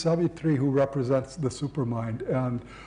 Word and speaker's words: Savitri: This is not Savitri, with a long A and a long final I, but Savitri.